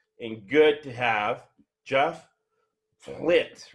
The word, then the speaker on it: Plitt: And we're very lucky, privileged, and good to have Geoff Plitt, right? Rhymes with shit on our on our podcast today.